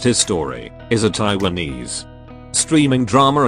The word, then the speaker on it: HIStory: Hi Story, pronounced His Story, is a Taiwanese streaming drama anthology series created by Changting Fei for the online streaming service Line TV.